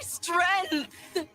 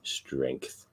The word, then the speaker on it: strength: I love storm but I have a bit of a pet peeve when people don't pronounce the G in strength strength strength strength yeah